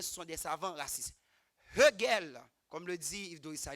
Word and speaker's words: Hegel: Hegel, comme le dit Yves Dorissa, il prononce toujours le H.